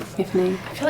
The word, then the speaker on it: Myfanwy: Myfanwy.